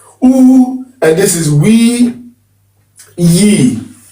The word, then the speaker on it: U: And then we have the T, U, almost sounds like O-double-O-H is how you pronounce it. U, and this is we, ye.